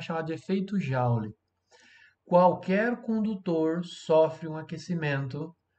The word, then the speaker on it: Joule: Se escreve Joule, mas a gente fala Joule, tá?